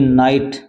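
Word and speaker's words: night: यहां पर देखो अभी नाइट नाइट मान क्या होता है रात होती है इसमें जी साइलेंट है नाइट इसमें ऐसे बहुत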